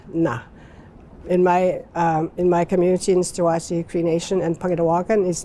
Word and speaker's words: Nisichawayasihk: And as Cree speakers, we had to go syllable by syllable, because when we speak, we have to say it fast. And then, like, you don't say Nisichawayasihk, you go Nisichawayasihk. So, people had a hard time with that.